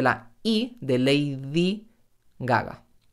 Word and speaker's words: Gaga: Gaga. Lady Gaga. En español no decimos Lady Gaga, sino Lady Gaga. Cuando digo Lady Gaga, la primera G también suena más suave porque viene detrás de la I de Lady Gaga.